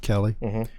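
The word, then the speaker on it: Keli: so next was uh k-e-l-i we're gonna pronounce it kelly uh kelly lawson uh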